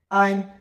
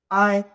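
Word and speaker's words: 爱: আমি বলব আপনারা ট্রাই করার সাথে সাথে ঠিক আছে আই আই আই মানে কি লাভ এটার অর্থ হচ্ছে লাভ ঠিক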